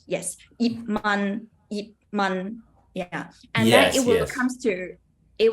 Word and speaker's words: Yip Man: But I have some students, they will have a problem, like they will always say yip. They will always pronounce the P really loud. But you don't need to. No matter there is T behind or M behind, you don't need to pronounce that loud. Just yip, close your mouth.